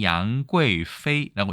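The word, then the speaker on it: 杨贵妃: 그래서 인물을 얘기할 때는 양괴이페이라고 얘기합니다. 양귀비랑 비슷하죠, 발음이 중국에서.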